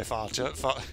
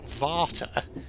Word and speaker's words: Vater: I'm sorry, Farger. Farger? It's Gold member from Austin Powers. I'm sorry, Farter. Farter? No, Varter. That's how they pronounce it. Jesus Christ. God, what's wrong with me? I'm sorry, Vater.